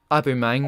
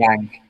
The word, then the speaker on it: Aubameyang: Just brought 3 shirts and ordered a new one with Abu Mang. I think About the way you no, pronounce it. Aubameyang.